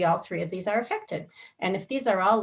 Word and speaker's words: affect: is cognition taking place in your frontal region affect and it is pronounced that way if you're not familiar with